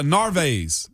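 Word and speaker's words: Narváez: and Omar not uh narvez navias names yeah uh narves is how you say his last name okay but this morning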